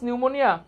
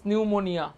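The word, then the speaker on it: pneumonia: মধ্যকর্ণের সংক্রমণের জন্য দায়ী হচ্ছে স্ট্রেপ্টোকক্কাস নিউমোনিয়া। নিউমোনিয়া বানানটা কিন্তু অনেক ভুল দেয়, পিটা আমাদের এখানে সাইলেন্ট আছে, বানানটা কিন্তু ভুল করা যাবে না, বানানটা কিন্তু খুব সুন্দর করে দেখতে হবে।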